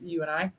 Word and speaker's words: UINI: That's how it's spelled, but it's UNI. As in you and me, baby, we're going to get this done together.